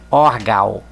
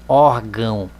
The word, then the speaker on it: órgão: som sai pelo nariz sem esse tio aqui nós leriam orgal nós não falamos orgal nós falamos órgão e qual é a